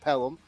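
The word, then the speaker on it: Pelham: where you're going to school you are from pelum Alabama I am I pronouncing that correctly is it pel yes yes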